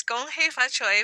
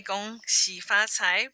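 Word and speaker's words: 恭喜發財: in the presentation, yes, Gong Hei Fa Choi was a term that was used longer in America through because of Cantonese immigration. Now we say Gong Xi Fa Cai because it's the Mandarin pronunciation.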